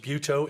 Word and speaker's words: Butow: It's pronounced Butow. It's German. The little umlauts over the U are not happy or smiley faces.